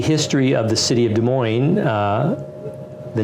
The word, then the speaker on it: Des Moines: beautiful sound to it a lot of people mispronounce it got des moines des moines it's called des moines actually in French - muah and so we're